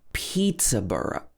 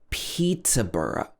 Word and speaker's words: Peterborough: that it's bora bora for example peterborough pizza burra or you can shorten it even more you can say pizza bruh bruh you can pronounce it you can pronounce it like that as well number nine is